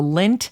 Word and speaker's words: Lendt: The Lint family pumpkin patch. Lint, the last name, is spelled Lendt.